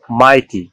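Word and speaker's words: mighty: ইংরেজি শব্দের শেষে জিএইচ থাকলে তার উচ্চারণ হয় ফ অথবা কখনো তা অনুচ্চারিত থাকে, কিন্তু এরপর টি, এন বা এম থাকলে জিএইচ উচ্চারিত হয় না।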